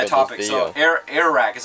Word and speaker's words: Airrack: So Airrack is how you pronounce it, right? Airrack.